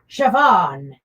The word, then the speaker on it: Siobhan: Pronounced Siobhan.